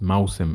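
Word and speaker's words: موسم: Musim al-Hajj. Musim, very important word that means season. And it's pronounced Mausim in Fusha, by the way.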